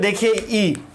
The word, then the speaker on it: the: अर्थ में ये प्यारे बच्चों देखिए ई मेरा क्या है? आपको क्या है? वोवेल है, इसलिए इसका उच्चारण क्या होगा? दी, यानी कि दी अर्थ हो गया, ठीक है।